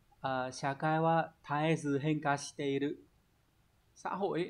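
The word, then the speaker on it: 絶えず: Shakai wa taezu henka shiteru. Xã hội ấy, nó đang biến đổi không ngừng, đúng không? Thì đọc là taezu sẽ là số 2, đúng nhỉ?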